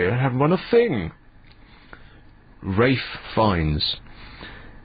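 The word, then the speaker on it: Ralph: Rafe Fiennes. In which country is R-A-L-P-H pronounced Rafe?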